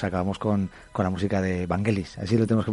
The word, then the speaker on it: Vangelis: griego, y pues acabamos con la música de Vangelis, así lo tenemos que pronunciar, ¿no, uh-huh, Alex?